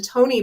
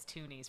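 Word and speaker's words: Tonie: is the Tony box. Oh. And the Is that Tony how you box pronounce isn't, it? I thought it was Toonies for the longest time.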